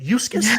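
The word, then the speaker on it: Uxas: panel was in regards to, again, Darkseid or Eustace comes to Earth first. You know, this is the land. Right, you got to educate me. Say that again. Eustace. Eustace. Some people pronounce it completely different, but Eustace before he's Darkseid.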